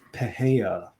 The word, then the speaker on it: Pereira: are going to start off with Mr Alex pahaya and that's how you pronounce it um this one is terrifying he's